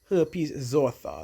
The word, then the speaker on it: herpes zoster: Herpes zoster. Let's get our understanding of herpes zoster. That's how it's pronounced.